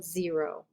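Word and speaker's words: xero: mico a nico xantho zero that x is always pronounced as a z for whatever strange reason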